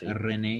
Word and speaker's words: Rennes: I mean, I believe it's pronounced Rennes.